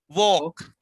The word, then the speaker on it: walk: Walk. Walk. L is silent.